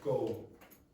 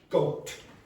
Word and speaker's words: goat: So these you listen back you will hear that the Last two people said go. They said go. There was nothing at the end.